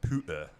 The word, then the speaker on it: pewter: And he, makes these things out of pewter. That's nice. Or puta, as the Puta. English It's tend to puta.